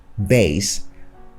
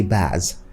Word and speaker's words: base: Base. We say base in British English. In Nigerian English, most people say bass.